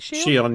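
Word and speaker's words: Shionne: I was hoping Shion. Is that how you say it? Shion, yeah.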